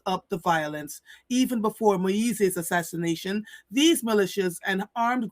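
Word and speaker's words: Moïse: um in the power vacuum that followed the assassination of the democratically elected Joanel Moyes. How did I spell that? Did I say that properly? Joel Moise.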